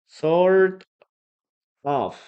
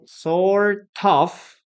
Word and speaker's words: sort of: Sort of. Okay. Sort of or sort of. Sort of. We don't pronounce the letter T.